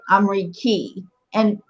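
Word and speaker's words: أمريكية: Okay, so it's ya with shedda and then tamar buta. Yes. Okay, so how are we going to pronounce that then? Amriki. Amriki for a male. What about for a female? Amrikia. Amrikia. Amrikia. Amrikia. Okay. The shedda adds some added emphasis on it.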